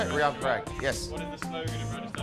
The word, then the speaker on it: Riyan Parag: Riyan Parag, is that how you say it? Riyan Parag, yes.